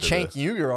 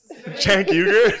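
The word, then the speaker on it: Cenk Uygur: You get Chank Uger on your ass, dude.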